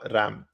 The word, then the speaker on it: RAM: but more commonly as random excess memory or RAM pronounced same as the animal.